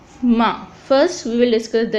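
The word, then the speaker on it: م: The letter ma is pronounced by, we can pronounce it by joining the dry part of our lips. The dry part on which you can see that part in the picture, which is dry part. We join both dry parts to pronounce ma. Ma.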